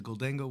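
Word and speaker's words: Gholdengo: All right, I know there's a little bit of a how to pronounce his name, but I say Goldango, so we're gonna go with Goldango.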